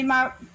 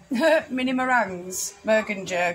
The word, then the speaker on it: meringue: You got some mini meringues, Mergenjerg or whatever you call them. Yeah, it's meringue. It's French. I say Mergenjerg. I know you say Mergenjerg, because that's how it's spelt.